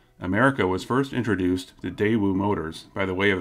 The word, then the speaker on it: Daewoo: over 20 years ago the emphasis should be on the first syllable not the last the day wulanos from 14 750 so going forward i'll try to say it as daewoo feel free to debate